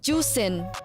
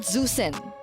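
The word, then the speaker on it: Zhuxin: pronounce zusin no no it's pronounced as juin juen so it's not zusen I can speak mandin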